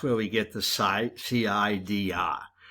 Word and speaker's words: CIDR: we get the site cidr as far as i know you're supposed to pronounce it like apple cider presume there's an e